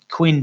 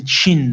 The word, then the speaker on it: Qin: back to the to the Queen dynasty the Qin Dynasty sorry okay queues are pronounced CH for some reason the the base